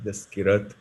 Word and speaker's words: Jaskirat: So what do you do, this Kirat?